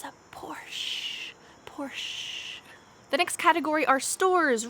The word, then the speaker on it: Porsche: audi audi porsche porsche notice this word has an s-c-h but we don't say porch a porch is where i'm sitting right now it's like a deck a place on the back of your house or on the front of your house but make sure for this car we don't say ch instead you just say